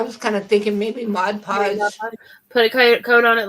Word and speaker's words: Mod Podge: on there hmm yeah Margie said it right mod mod podge I don't know why I add the extra G on that and I do the